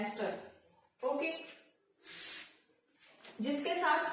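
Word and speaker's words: ester: इसको मैं अपने ट्यूशन टाइम में प्रोनाउंस करती थी ईस्टर, बट इट्स नॉट ईस्टर, इट्स एस्टर।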